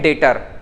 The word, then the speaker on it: debtor: में हम बोलते हैं डेटर, ठीक है। क्या बोलते हैं, डेटर, DEBTOR। तो यहां पर जो बी है वो साइलेंट रहता है, इसको हम प्रोनाउंस करते हैं डेटर, DETOR ऐसा प्रोनाउंस करते हैं, लेकिन लिखते कैसा है, DEBTOR।